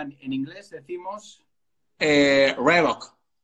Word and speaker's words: Reebok: Reebok. No, eso es pronunciada a la española. En inglés decimos... Reebok. Reebok. Reebok.